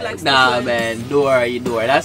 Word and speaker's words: Dorohedoro: Let me say correctly, because I know a few people have been saying I've been saying it wrong, and you know, it's Dorohedoro.